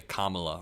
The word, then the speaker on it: Kamala: tongue so much easier when you just say Kamala right um but I think that uh I